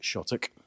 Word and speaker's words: Shotwick: very small village of shk and in particular to the interior of this wonderful old church St Michaels the name is actually spelled shotwick but we pronounce it shik and I'll take you